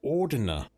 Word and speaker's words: Ordina: The history of Ordina. And that's how it's pronounced.